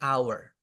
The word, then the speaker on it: hour: jam itu an hour padahal tulisannya teman-teman Tapi bacanya our sekali lagi kita menujuk